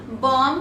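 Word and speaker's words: bomb: है इट्स बम बम बम में हमारा जो आखिरी का भी है वह होता है साइलेंट सो ऑलवेज कॉलेज बम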